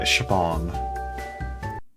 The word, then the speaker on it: Siobhan: Uh, and her name, this is going to be one that Americans will never be able to pronounce. Um, uh, Siobhan.